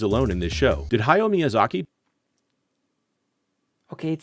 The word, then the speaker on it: Hayao Miyazaki: a butthole as well it's Hayao Miyazaki not hayo Miyazaki learn to read YouTuber